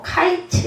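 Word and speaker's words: קַיִץ: 이유가 실과는 단어 때문이었다 실과는 히브리어로 카이츠 있니다 카이츠 그런데 이와 유사한 발음의 단어가 2절에 이스라엘의 끝이라고 할 때 그 끝이라 라고 합니다 우리가이 히브리어를 잘 알면 그냥 읽기만 해도 이해가 될 텐데 그래서 히브리어로 케츠 아고 해요 끝 끝이 케츠 다 비슷하죠 예 카이츠 케츠 이렇게 됩니다 예 환상을 보시니 실과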